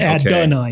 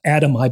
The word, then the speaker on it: Adonai: And it rhymes with Adonai, which means Adonai, which is a play on the word, the Hebrew word for God, Adonai. Adonai. Adonai, not Adamai.